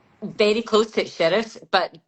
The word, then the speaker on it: Shirreffs: Very close to Sheriffs, but Sherriff. Nobody can pronounce it here, never mind anywhere else.